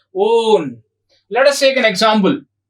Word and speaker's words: one: ONE, one. That is different. Here we have to pronounce as own.